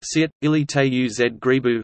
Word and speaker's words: Sveučilište u Zagrebu: The University of Zagreb, Croatian, Sveučilište u Zagrebu, pronounced Sit, ili te u Zgrebu, Latin, Universitas Studiorum Zagrebiensis, is the largest Croatian